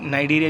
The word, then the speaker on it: Cnidaria: इसको लोग नाइडेरिया भी बोलते हैं, नाइडेरिया। तो आप लोग Cnidaria बोले ताकि आप लोग जब स्पेलिंग लिखते हैं तो आपको कन्फ्यूजन ना हो या फिर भूल ना जाओ।